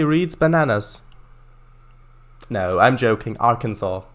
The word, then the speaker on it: Arkansas: bananas no i'm joking arkansas there you go that's the correct pronunciation uh yes these ones